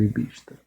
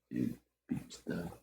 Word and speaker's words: EBITDA: EBITDA, é porque tem o D é mudo, né?